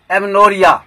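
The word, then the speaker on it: amenorrhoea: First word है एमनोरिया। एमनोरिया, एमनोरिया मतलब होगा N abnormal absence of menstruation. एमनोरिया, ए एम ई एन O double R एच ओ ई ए, एमनोरिया। यहाँ पर एच O silent है, इसका मतलब है N abnormal absence of menstruation.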